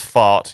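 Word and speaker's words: Pfaadt: No, it is pronounced fart.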